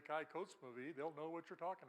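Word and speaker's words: Kykotsmovi: Well, as I learned, the names of these towns are pretty much just the way they look. So let's all say Kai Kotzmovie.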